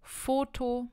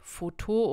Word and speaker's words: foto: gehen wir zu Foto Foto ist ganz simpel wie im Deutschen Foto und das endet auf wo ist wieder ein Vokal und man sagt also Foto und nicht Foto oder so denn die Betonung liegt wieder auf der vorletzten Silbe dann haben machen wir